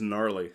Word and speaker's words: gnarly: I actually make the comparison because in much the same way that the G in gnarly is silent, there's a K at the top of Knarr, which is silent.